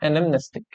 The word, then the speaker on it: anamnestic: এনেকে pronounce কৰিবা anamnestic. Okay?